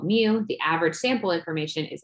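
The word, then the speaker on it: μ: this little greek letter mu so we say pronounced mu kind of like mu and meow mew for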